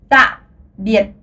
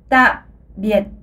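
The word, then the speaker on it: tạm biệt: vietnamien, vous pouvez dire ta biệt. Alors, encore une fois, ta biệt. Et oui, cette prononciation est beaucoup plus provocante. Alors, essayez de dire les mots un peu lourdement, puisque vous savez, disons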